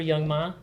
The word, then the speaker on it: Young M.A: I think it's Young M.A. Yeah, well, Young Ma. I swear to God, that's not how you pronounce I it. think she says M.A.